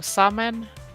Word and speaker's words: Samhain: And I know now Samhain is celebrated. I think that is how you pronounce it.